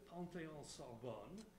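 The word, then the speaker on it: Panthéon-Sorbonne: Noémie received her doctorate jointly from the University of Paris Une, Panthéon Sorbonne. Is that right? It's perfect. Good. and the University of Geneva, which I'm pronouncing in the English manner, in 2011.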